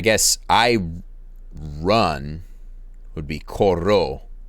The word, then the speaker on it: corro: Yo corro. But the stress is in the first syllable.